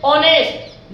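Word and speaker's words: honest: ऑनेस्ट लिखाता है, ऑनेस्ट, एच आपका silent हो जाता है।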